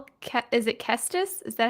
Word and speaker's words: Kestis: I think it's is it Kestis?